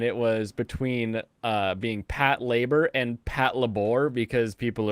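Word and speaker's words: Patlabor: know or pronounce it I know Brandon pronounce uh Pat labor as Pat labor but I've always called it like paddle birg no is that not how you say it it's no okay we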